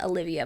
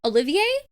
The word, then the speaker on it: Olivie: I always said Olivia, but that's not her name. Olivier? I think that's the author's name. I think I'm pronouncing that right.